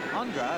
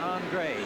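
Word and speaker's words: Aundra: We were told that he's changed the pronunciation of his name, spelled A-U-N-D-R-A, from Andra, as he was known in Green Bay, to Andre, as he's known here in New Orleans.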